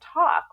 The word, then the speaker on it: talk: When you say like words like walk and talk, if you say walk in, I might criticize you for dropping a G, but in the 15th century, we dropped the L and no one hits